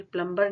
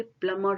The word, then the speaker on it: plumber: जैसे हम इसको बोलते हैं प्लम्बर, ये प्लम्बर नहीं होता, ये प्लमर होता है, प्लमर, प्लमर, इसको इस तरीके से बोलते हैं।